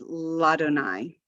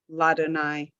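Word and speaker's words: לַאדֹנָי: Very often we'll have a prefix in front of Adonai, and we don't add a syllable to it.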